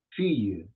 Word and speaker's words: fille: Es como que la E no la pronuncian, ¿recuerdan? La E puede estar ahí, puede significar un femenino, casi siempre significa femenino, y no se pronuncia. Por eso es que yo digo fille, fille. O sea, la doble L como si fuera una E, que es una E para nosotros en español.